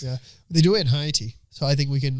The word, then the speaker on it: Haiti: Yeah, they do it in Haiti, so I think we can like make some tweaks and Say that again? implement Haiti.